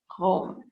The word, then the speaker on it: Rome: Et le E est muet. Donc, le E donne la permission, donne le micro à la consonne qui est placée avant pour donner la permission à la personne qui lit de le prononcer. Donc, c'est R, O, M, Rome. Parce qu'on ne lit pas R, O, M, E. Le E, c'est un E micro.